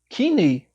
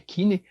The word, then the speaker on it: Kinney: E aí, então, a grande empresa, a Kinney, eu acho que é essa a pronúncia, acho que é Kinney, a Kinney compra a